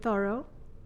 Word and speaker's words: Thoreau: Have you heard of Henry David Thoreau? Okay. Am I pronouncing his name correctly?